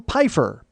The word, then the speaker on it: Pifer: appreciate that very much it is pifer because it's spelled like Pfeiffer but he made a point to tell me it was pifer so I'm making sure that I say pifer uh I'm pretty sure